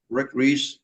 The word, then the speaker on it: Rik Reese: Rik is spelled R-I-K. Rik Reese, like Reese's peanut butter cup.